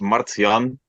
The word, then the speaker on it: Martjan: it came to be my first name is pronounced Maran and it's it's not